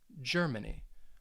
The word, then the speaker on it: Germany: do you guys think so again yes it has three syllables and that stress you should have said the first syllable so the first syllable is going to get that emphasis germany if you got that